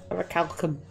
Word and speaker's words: orichalcum: relics I like him orichalcum orichalcum orichalcum you said that right like I've never heard